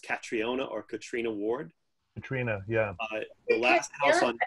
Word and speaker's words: Catriona: Yeah, it's a Scottish name, and you pronounce it Katrina.